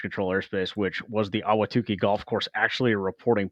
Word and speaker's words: Ahwatukee: But yes, the Ahwatukee Golf Course is an actual reporting point, and yes, it is pronounced Ahwatukee.